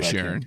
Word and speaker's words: Inisherin: Number four is is The Banshees of I you pronounce the last name. Inisherin, yeah.